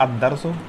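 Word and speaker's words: الدرس: तो इसका सही प्रोनाउंसिएशन क्या होता है, अद-दर्सु और अद-दीनु, ठीक है।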